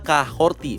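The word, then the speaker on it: Kahhori: Kemudian kita melihat Kahori, karakter baru original yang debut di series ini. Namanya sebenarnya dibacanya Kahorti menurut Ryan Little yang memproduseri dan menulis episode ini.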